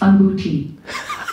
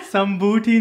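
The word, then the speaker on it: अंगूठी: In Hindi, that's anguti. Sambuti. Sambuti. That's what I wanted to tell her. Sambuti nahi, anguti.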